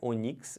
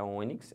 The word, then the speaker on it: ônix: Não é onix, é ônix.